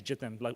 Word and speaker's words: Jitin: For those of you who see me around and don't know how to pronounce my name, it's Jitin. Sounds like kitten with a J.